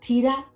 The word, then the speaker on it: theta: t for t for how do you pronounce that word Theta TAA the angle Theta you have to have H in there Theta yeah Theta first